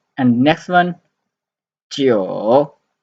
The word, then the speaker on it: 九: And next one, 九, 九, 9, 九, 9 in third tone.